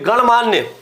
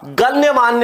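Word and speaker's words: गण्यमान्य: आ रहे हैं वो गणमान्य नहीं होता गण्य मान्य होता है शुद्ध रूप क्या होता है इसका गण्य मान्य होता है क्या होता है गण्य मान्य होता है और हम बोलते क्या है गण मान्य बोलते अब यहां जो अशुद्धि हुई है उसका कारण क्या है य का क्या हो रहा था लोप हो रहा था य का लोप होने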